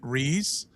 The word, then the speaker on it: Reyes: News anchors Robert Burton and Jeanette Reyes. Reyes. Sorry, Right. Reyes.